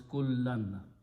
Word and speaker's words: كُلًّا: so it will also, as a maf'ul, will change to two fathas, and we add an alif there, so it is pronounced as kullan.